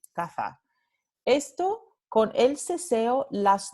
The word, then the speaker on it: caza: Entonces, vamos a tener una diferencia entre caza, esta primera palabra, hunt, se va a pronunciar con la interdental sorda, y casa, esta segunda palabra, se va a pronunciar con la fricativa alveolar sorda.